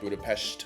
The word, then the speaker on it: Budapest: Anytime you see an S in a word, it actually makes the sh sound, like Budapest is actually correct.